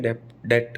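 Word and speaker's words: debt: टूम, lamb, डेट, डेप्ट नहीं, कर्जे को बोलते हैं डेट, है ना, डेप्ट नहीं बोलना, डेट, क्लाइम, ठीक है, बी नहीं बोलना, कुल मिला के बात ये है।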